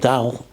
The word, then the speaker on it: Dahl: story I think I mentioned before from Roald Dahl that's how you pronounce it the d-a-h-l famous British writer I